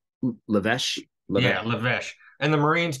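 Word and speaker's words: L'Évêché: pronunciations at Camp Le it's the El iveche or whatever you would say l apostrophe e-v-e-c-h-e um lavesh and the marines called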